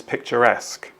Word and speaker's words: picturesque: the missing word is picturesque and if you look in the parentheses there the brackets uh you can understand perhaps why somebody might see it as picture and then skew but it's picturesque number three a good